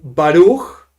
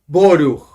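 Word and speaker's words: ברוך: When you have a komatz, we say O, komatz. Like some people say Baruch, we in Chabad say Boruch, not Baruch, Boruch, like with the O, Boruch.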